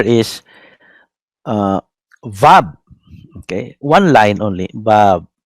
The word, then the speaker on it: Vav: This next letter is uh, Vab. Okay, one line only. Vab, like that. Vab. W-A-W. Wow or Vab. Bakit Vab? A-W ang spelling. Because the Germans were the first uh, grammarians, no, of Hebrew.